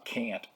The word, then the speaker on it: Kant: Well, Liz Whitebeck always pronounced it Kant.